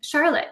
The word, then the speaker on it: Charlot: They wanted people to say Charlotte. Now it's spelled, that's spelled the Norwegian way, like Charlotte?